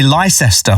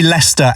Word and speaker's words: Leicester: in a place called Leicester Square. Yeah. But it's spelled Leicester. And Americans seem to really struggle with saying that and say Leicester.